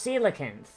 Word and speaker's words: coelacanth: order to see like no it's pronounced silicons right given the oarfish